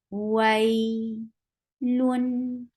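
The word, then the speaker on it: ويل: So you will make it very soft. Wai, lun, lun will be take tawassut because you are pronouncing tanween. Wailun.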